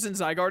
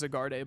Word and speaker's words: Zygarde: I used to pronounce Zygarde as Zagarde.